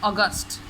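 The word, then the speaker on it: August: और दूसरी बात बच्चों, उर्दू में आप इसे अगस्त कहेंगे और इसे अक्टूबर, but when it comes to English pronunciation तो आपने ओ की आवाज़ निकालनी है, अगस्त, अक्टूबर। इसे लंबा नहीं करना, आपने साउंड को इसे खींचना नहीं है, अक्टूबर, अगस्त।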